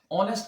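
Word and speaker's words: honest: इसी तरह से ऑनेस्ट, ऑनेस्ट का भी एच साइलेंट है और इसकी साउंड ओ से निकलेगी।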